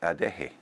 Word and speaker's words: Adeje: a foreign accent on all you have to do is to pronounce each letter in Spanish so a deck hey is a de hotter which is J and E again so a deck hey is like a day hey now a lot of